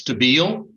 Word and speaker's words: Stabile: of bsr versus and i i pronounce it stabile uh please correct me uh with the pronunciation if there is another way that i'm supposed to be pronouncing that judge i believe it's stabile uh and i'm ready